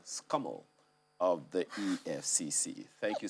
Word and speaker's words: SCUML: ball to know exactly how the name of your unit is pronounced that elise acting director special control unit against money laundering scummel of the efcc thank